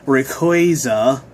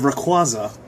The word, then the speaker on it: Rayquaza: one way or another like rayquaza instead of raquaza i mean it also